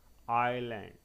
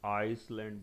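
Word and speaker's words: island: क्या हो जाएगा ए साइलेंट हो जाएगा देखिए आईलैंड आईएस ended on silent times बूंदे आइसलैंड बोले sorry it इज wrong it इस आयरलैंड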